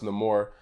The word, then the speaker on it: Namor: um the antagonist also Namor and the movie is pronounced in the more I liked him a